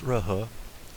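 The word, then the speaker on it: Jehol: Le G-E-H-O-L, ça se prononce Rehe.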